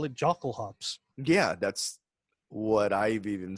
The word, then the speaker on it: Jokulhaups: is it's actually pronounced like a Y. Yuck. Yeah, Yeah, exactly. Like it's supposed to yo. be like It's Jokulhaups.